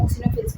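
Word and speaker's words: eosinophils: ओनो फिल्स एंड बसोफिल्स यहां पर ई silent में होता है इसलिए इसको हम ओनो फिल्स पते हैं इधर एनोसाइट्स के दो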